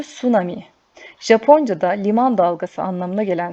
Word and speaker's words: tsunami: içmeyin Ateş yakmayın tsunami tsunami okunuşu sunami Japoncada Liman dalgası anlamına